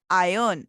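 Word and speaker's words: iron: office वाले रसायन रुके आयरन नहीं बोलेंगे से आयरन ओके आर साइलेंट है तो वॉटर डायमंड जुबली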